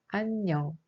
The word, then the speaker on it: 안녕: In the syllable an, iung has no sound, but in the case of 녕, iung has a sound ung. So the pronunciation of this word is 안녕.